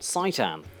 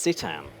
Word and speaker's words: Citan: City and Titan but my initial pronunciation was apparently wrong it's not saitan it's sitan either way it's the